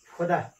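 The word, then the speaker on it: 보다: शब्दको सुरुमा ब आयो ब को उच्चारण फ भनेर गइन्छ। उदाहरणको लागि फोदा यो बोदा नभएर फोदा हो फोदा फोदा भनेको हेर्नु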